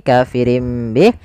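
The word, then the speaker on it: كَافِرٍ بِهِ: Bih awalnya kafirin Bih karena dia ganti suara nunnya kafirin Bih diganti dengan huruf mim kemudian ketika kita melafalkan ini kafirim Bih itu sebenarnya ada dua cara baca yang pertama dengan idbaak yang kedua dengan suara furjah tapi kita mengambil yang idbaak saja yaitu bibir kita tertutup dengan rapat kafirim Bih kemudian dan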